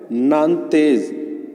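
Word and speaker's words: Nantes: था, उसका नाम है नानतेज। क्या है? नानतेज। ठीक है, एस साइलेंट रहेगा इसमें।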